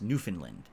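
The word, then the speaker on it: Newfoundland: ever been to is New Foundland which is actually pronounced New Finland I don't know what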